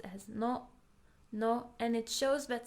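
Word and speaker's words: の: It's pronounced as no.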